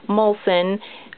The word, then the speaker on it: Molson: My YouTube name is Molson352, and I know it's spelled weird, but it is pronounced Molson. It's kind of like Molson beer, or Olson with an M is how I always